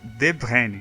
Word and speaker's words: De Bruyne: Então, se a gente fosse pensar em como a gente pronuncia o sobrenome dele de acordo com o lugar que ele vem, seria De Bruyne.